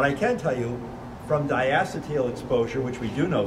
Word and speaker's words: diacetyl: That leads me to my first question, which was that reference in Laurie's presentation about the diacetyl, that's correct pronunciation, leading to the obliterans and the COPD.